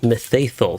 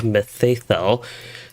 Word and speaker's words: Mitheithel: of myth let's see i have heard the it is pronounced as methathol so angle of methathol rather so that is something